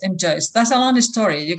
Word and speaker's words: M'Joyes: Maybe you pronounce it differently. M. Joyce. M. Joyce.